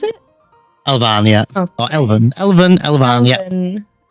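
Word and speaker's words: Elvaan: Is that how you pronounce it? Elvan, yeah.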